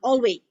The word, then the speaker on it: always: is i contact and this one always is always always we always mispronounce the s yeah or we forget the s now there are some